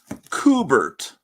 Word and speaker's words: Kubert: kind of vertigo but it's cubert um is a it's apparently kubert but I've always pronounced it cubert oh Paulo's here me